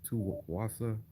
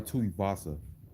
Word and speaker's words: Tuivasa: Tuwasa. Yeah, I like him, man. He's pretty good. Let me see how you say his name. Ty Ty Tuivasa.